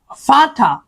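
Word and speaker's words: Vater: ফাটা ফাটা আচ্ছা এখন এই ভি এর যে উচ্চারণটা এটা কিন্তু পুরোপুরি ভি হবে না এটার হচ্ছে এফ এর উচ্চারণটা হয় কিছুটা এফ এর মতই তো আপনি কি লেখেন এটার উচ্চারণটা হবে আইন ফাতা এটা কি হবে এ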